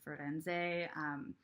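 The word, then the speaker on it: Firenze: lyrics are washy feats you drive me to Freud ends a that ends day is how you say Florence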